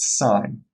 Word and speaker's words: sin: is shortened to SI n which is to pronounced sign as in si ng in sine of theta